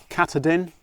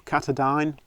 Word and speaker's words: Katadyn: very popular this is the katadin or katadyne however you want to pronounce it be free and